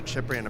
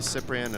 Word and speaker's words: Cyprian: did bump into the chipper in about three uh days ago and he says most English people call me cyprian and it's fine but you know my name is pronounced chipperin okay that's why I've been